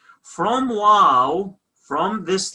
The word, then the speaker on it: ܘ: in the second group wow wow isn't a w in english numeric value is six